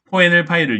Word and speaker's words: KoNLPy: 근데 지금 보기에 보면 보기 1번에 KONLPY 자 저거 뭐라고 읽느냐면 CONLPy 이렇게 읽습니다. 근데 제 용도는 뭐냐면 한글 텍스트 분석을 할 때 사용하는 라이브러리예요. 그래서 한글 텍스트 파일을 불러온 뒤에 코엔엘 파일을 이용해서 뭐 품사도 찾고 우리 형태소 분석 이렇게 부르거든요.